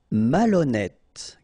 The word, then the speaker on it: malhonnête: décider, malhonnête. Okay, remember, H doesn't exist, so malhonnête. Don't insist on the final E. Malhonnête. And here you get E accent circonflexe, so you pronounce it like E.